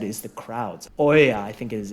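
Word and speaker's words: Oia: I guess like you said is the crowds Oya I think is it's pronounced is is the popular side on the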